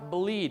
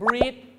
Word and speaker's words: bleed: ต้อง ออก เสียง bleed ต้อง ออก เสียง ตัว L นะ ครับ bleed เพราะ bleed ก็ คือ เลือด ไหล ก็ ก่อ ให้ เกิด Blood ก็ คือ เลือด แต่ บาง คน นะ ครับ ไป ออก เสียง breed ใส่ ตัว อ ก็ จะ กลาย เป็น อะไร ครับ แปล ว่า ผสม พันธุ์ เ นะ ฮะ ต้อง